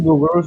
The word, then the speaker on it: Bouguereau: Some people call it Bouguereau. So I go with Bouguereau. Yeah, because that's like a French way of pronouncing it.